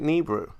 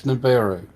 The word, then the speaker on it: Nibiru: say Chemo, at least try and say it correctly. It's Nibiru.